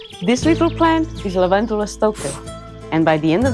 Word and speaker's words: Stoechas: Well, yes, some people pronounce it Stoechas. But when words derive from Greek, the CH is usually pronounced like a K, so it sounds more like Stoechas.